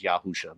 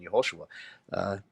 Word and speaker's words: Yehoshua: It refers to Jesus as Yahusha, but that's apparently their preferred pronunciation of the name Joshua. Of what would be in a standard pronunciation Yehoshua. Or for one Westers, Yahawashai.